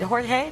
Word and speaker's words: Jorge: Providence, Rhode Island Mayor, is it Jorge?